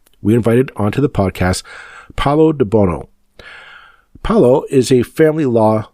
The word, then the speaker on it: Paolo De Buono: Thank you to Paolo de Buono. That is correct pronunciation of your name, correct?